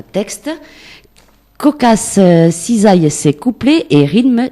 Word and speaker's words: Kokass: Donc, ça se prononce comme ça? Oui. Cocasse.